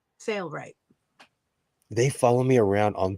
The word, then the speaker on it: Sailrite: Am I saying it wrong? Sailorite? Sailrite? Yeah. Sailrite.